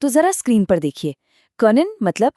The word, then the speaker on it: kann: वो कहते हैं इश कान पत्सियंटन गुड behandle।